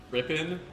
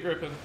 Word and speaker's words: Gripen: Ever since I heard Pixie fucking pronounce it as Rippin in Ace Combat Zero, I no longer remember the correct pronunciation. Unless that is the correct pronunciation, and I'm just... So it would be a Gripen.